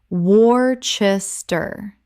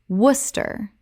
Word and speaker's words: Worcester: Worcester Common mispronunciation: War-ches-ter Correct pronunciation: Woos-ter Only two syllables, one of English's most famous spelling traps.